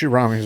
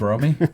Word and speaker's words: Romy: Rami's very funny. Or whatever, however you fucking say her name. Yeah. She shows too. It's Romy.